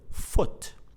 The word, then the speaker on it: foot: So this means that in some words the double O is pronounced as oo, just like in the word spoon, and in some other words it's pronounced as the short vowel sound O, just like the word book or the word foot.